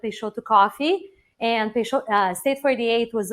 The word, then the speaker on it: Peixoto: And I always like to start by the pronunciation. It's Peixoto. And when in doubt, it's phonetically spelled on top of our logo. So not Peixoto, not Peixoto, not prosciutto. I've been called all those things. So Peixoto.